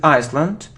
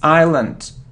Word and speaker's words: island: this world it isn't Iceland now it isn't Iceland it's Island we don't pronounce its Island okay good so it